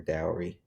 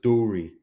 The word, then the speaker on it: dowry: the value of her dowry ooh it's pronounced Dory oh okay sorry sheesh